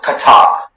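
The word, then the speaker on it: Kathak: Okay, the word is katak. Katak. Can I have all the information, please? Katak is the only pronunciation.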